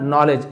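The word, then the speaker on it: knowledge: To acquire traditional नॉलेज। Acquire यानी प्राप्त करना उसे एक्वायर कहा जाता है। ठीक है? ट्रेडिशनल नॉलेज यहां पे के साइलेंट है।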